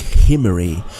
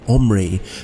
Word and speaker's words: Omri: with a guttural sea so it would be pronounced something like himmery throughout our english bibles